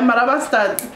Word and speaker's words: Marabastad: Yeah, Marabastan.